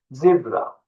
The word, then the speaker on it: zebra: Fakat İngilizce okunuşu zibra. Zebra. Zebra.